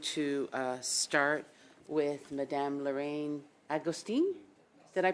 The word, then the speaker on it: Agostini: This is a very important topic, and I have a few questions, so I am going to start with Madame Lorraine Agostini. Did I pronounce that properly?